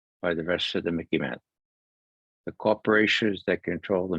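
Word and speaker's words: MICIMATT: right here it is the Mickey mat it Rhymes in a little bit with Mickey Mouse that's how you might remember it okay they make aim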